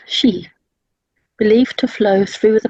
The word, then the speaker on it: Qi: as Tai Chi, or known as Qi or Kai. It's pronounced Shi, believed to flow through the pathways, the meridians through the body.